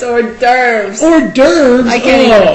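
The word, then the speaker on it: hors d'oeuvres: It's not horses or it's it's orves.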